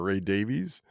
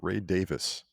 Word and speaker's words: Davies: know the Kinks everyone calls the lead singer Ray Davies but it's actually pronounced Ray Davis I've heard it from him himself he's like